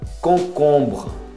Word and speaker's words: concombre: Concombre. Você fecha bem esse concombre. Até o BR. Não pronuncia o E.